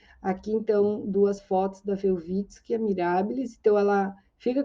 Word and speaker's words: Welwitsch: falam alemão o v o w né em alemão é pronunciado como V então por isso que eu imagino que seja a pronúncia certa velit ã e ele estava